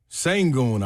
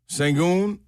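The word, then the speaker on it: Şengün: Sangon, I believe, is how you pronounce it. Six plus rebounds. Shangon over 26 and a half points, rebounds, and assists.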